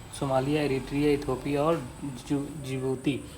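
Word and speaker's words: Djibouti: Somalia, Eritrea, Ethiopia और जिबूती। तो जिबूती जे से नहीं डी से शुरू होता है, डी यहाँ पर साइलेंट होता है।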